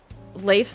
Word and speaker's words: Leif: I know Leif's name is probably Leaf for obvious reasons, but I call him Leif. Mostly because I know a Leif, and it's spelled that way. It's not pronounced Leaf, though.